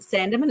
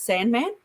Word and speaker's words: Sandeman: Because my last name is Sandeman, and no one can pronounce it Sandeman. It's Sandman. Sandman?